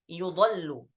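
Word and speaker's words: يُضَلُّ: Di riwayah Hafs dibaca yudallu. Yudallu.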